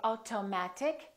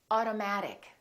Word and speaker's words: automatic: water auto auto automatic we don't say automatic we say automatic metal we don't say